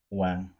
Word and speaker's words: Quang: were to say it more traditionally, like it would be pronounced as Bopa. All right. And yours? How do you say it? It's Wang.